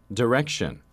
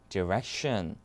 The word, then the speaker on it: direction: 맞는 말이에요 자 들어보시죠 direction 미국 영어가 이거죠 direction 영국은 direction 이거죠 direction Dire 오케이 자 그래서